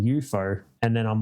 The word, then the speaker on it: YOUFO: spelled now exactly it's UFO but someone pronounced it to me one day saying EUO and then I'm like I like that because